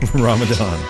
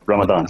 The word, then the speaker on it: Ramadan: inflicted deed that is pronounced with the tongue between the upper and lower teeth Ramadan I'm a dun dun okay I'll try my best here to put the tongue to the top while Ramadan means a month of